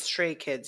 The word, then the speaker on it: Stray Kids: Did I say it right or did I say it wrong? yeah, it's stray kids.